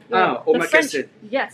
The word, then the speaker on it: omakase: Something really cool that you do is your, and I'm going to mispronounce it, Omakase? Omakase.